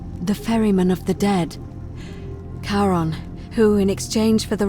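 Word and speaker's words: Charon: Only your pronunciation is a little off. The name you heard wasn't Karen. It was C H A R O N. As in Karon, the fairyman of the dead. Kaon, who in exchange for the right coin, helps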